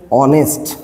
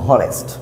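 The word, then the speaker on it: honest: silent letter silent letter এখানে অনেস্ট আমরা এখানে বলতে পারবো না যে হনেস্ট আমরা বলব অনেস্ট তার মানে এই সাইলেন্ট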